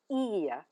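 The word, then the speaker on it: ihr: Now the informal form of you for singular is do and for the plural form it's e spelled Ir.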